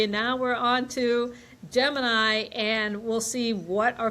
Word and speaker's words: Gemini: off by talking about how do you pronounce this? Because there's the constellation Gemini, but I've also heard this pronounced Gemini. And so, Beth, what's going on with the pronunciation here? Right. Well, I've always heard it Gemini, and that's just where I land. So when I reference it, I'm going to say Gemini, but Gemini or Gemini, both are correct.